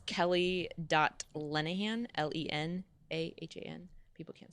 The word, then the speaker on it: Lenahan: On Instagram, it's Kelly.Lenahan, Lenahan. People can't spell my last name. And on Twitter, it's Ke Lenahan. Lend a hand without the D's is an easy way.